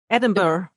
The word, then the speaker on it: Edinburgh: Oh, the Scottish place that nobody can pronounce. Oh, yes. Edinburgh.